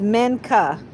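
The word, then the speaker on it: Minchah: I believe it's Mena and it's spelled M I N C H A H. Yes, it's Mena. That's the pronun pronunciation of it.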